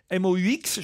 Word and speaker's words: Moux: je vais vers Mou, M-O-U-X. Je prononce pas le X de Mou, Pascal. Non, il faut le prononcer. Moux.